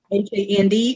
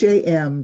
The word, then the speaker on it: Ham: Hand or Hann? Actually, it's Ham, just like the pig.